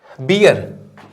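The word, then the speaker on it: bear: है यह भालू और भालू को हम लोग बेयर पढ़ते हैं क्या पढ़ते बियर नहीं बेयर बेयर राइट ये बियर यह बेयर और यह भी बियर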